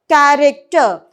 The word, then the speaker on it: character: For example, here I am going to write CHA, but I am going to pronounce it as K sound. Whereas I'm not going to pronounce same K sound if I am going to write a word CHART. I am going to pronounce it as cha. Whereas here I am going to pronounce it as K, character.